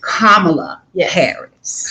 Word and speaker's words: Kamala Harris: name that's it so let me teach you now how to say this lady's name that part kamala harris kamala harris that's right